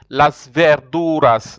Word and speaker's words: Las verduras: pronounce it after me Las verduras Las verduras and I told you the V some people they can pronounce as if it is a b sort of so you could you